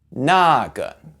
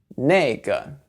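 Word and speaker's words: 那个: The first one is that 个, which means one of something, is usually pronounced with a fourth tone, but in these words, you can say it with a neutral tone. It's a lot easier if you just emphasize the first character.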